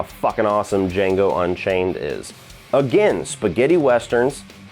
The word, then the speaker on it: Django: awesome flick number seven the d is silent but i'm not when i tell you how awesome django unchained is again spaghetti